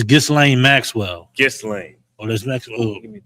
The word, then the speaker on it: Ghislaine: But I think you pronounce her name. Where's it at? I think it's Ghislaine. Ghislaine.